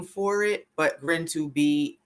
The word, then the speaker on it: GRIN2B: was called um grin to be that highly pronounced it's called yes it's grin to be related developmental disorder okay that's a lot yeah